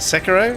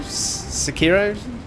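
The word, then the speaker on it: Sekiro: I installed SEO today how do you say it Sako sakiro they're both are fine I say sakiro yeah you wonder what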